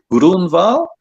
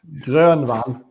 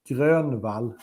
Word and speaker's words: Grönvall: What is it? Eric Grunwald? Grunwald? No, there you go. He's laughing his head off. You're Grönvall. There you go. That's the proper pronunciation.